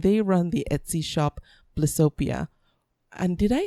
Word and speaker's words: Blissopia: It's Blissopia.